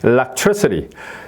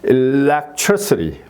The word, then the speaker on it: electricity: 이렇게 되는 거고 그다음에 세 번째 음절에 있는 경우에는 평지로 갔다가 이제 올라갔다 내려오는 거죠 평지로 갔다가 올라갔다 내려 내려오는 거 electricity electricity 예 예 이렇게요 자 electricity 예 이런 식으로 발음이